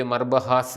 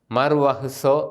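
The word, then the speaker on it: ܡܪܘܚܬܐ: അർത്ഥത്തിലും അത് ഉപയോഗിക്കാറുണ്ട് ഇനിയും മർവഹ് അല്ലെങ്കിൽ മർവഹ്സോ ഇതാണ് നമ്മൾ പലപ്പോഴും തെറ്റിച്ച് മർബഹാസ എന്നൊക്കെ പറയുന്നത് മർവഹ്സോ എന്നാണ് ശരിയായിട്ട് അതിൻറെ ഉച്ചാരണം മർവഹ്സോ ഫാൻ കിലുക്കുന്ന മണി ഇനി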